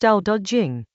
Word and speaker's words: Dao De Jing: Tao Te Ching, pronounced Tao Te Ching, chapter 14.